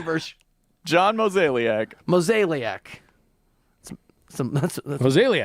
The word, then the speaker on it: Mozeliak: And they want to bring in ex-Cardinals GM, these guys, John Mozeliak. John Mozeliak. Butchered it as a consultant. And they're, I totally, wait, say it again, Versh. John Mozeliak. Mozeliak. That's Mozeliak.